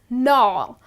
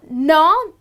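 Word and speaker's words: gnaw: the next one is no now no well here the g is silent you just end up pronouncing it as no and what it means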